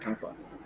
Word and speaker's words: chamfer: that do you know the word chamfer? Have you heard the word chamfer before? Or camphor? Chamfer. Some people pronounce it camphor.